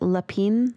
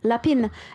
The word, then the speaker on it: lapin: So, I was interested though in the I don't know how to say it. Lepin. Lapin. Oh yeah. Lapin. And that's French for rabbit.